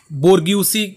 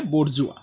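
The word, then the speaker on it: bourgeois: लोगों को देखा था एक है बड जुआ जिसको आप बोर्ग स के हिसाब से भी प्रोनाउंस कर सकते हो लेकिन इसका एग्जैक्ट प्रोनाउंस एशन है बोर जुआ फिर दूसरा जो ग्रुप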